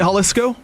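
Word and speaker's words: Jalisco: So, is it Haliscoco? Yeah, just from googling that's what it says it is. Oh, well done. It has a J in it, but I know the J and he's been listening to Drake toll.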